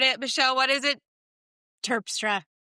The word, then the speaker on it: Terpstra: My guest today, Michelle Pas, did I say that right? I butchered it. Michelle, what is it? Turpra, I'm so sorry.